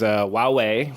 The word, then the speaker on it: Huawei: the big one was Huawei which I can now properly pronounce if I just don't think of the H Wow hey seems to have some troubles with the US government and the u.s.